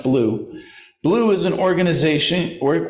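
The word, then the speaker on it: BLUU: black lives of uu or blue b-l-u pronounced blue blue is an organization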